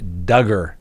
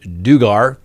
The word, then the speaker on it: Duggar: next we have the josh duggar case rhymes with hugger that's how we all remember that it's not josh dugar that's right well guess